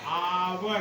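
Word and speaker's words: hour: यहां पर एच बच्चों साइलेंट है। क्या है? साइलेंट। अर्थात यच का उच्चारण नहीं हो रहा है। इसका उच्चारण ऐसे होगा। आवर क्या होगा? आवर।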